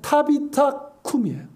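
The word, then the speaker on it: tabitha koum: 우리말에 뭐 다비다 일어나라고 되어 있는데 이게 아람어로 하면 타비타쿰이에요. 타비타쿰. 달리타쿰과 발음이 비슷합니다.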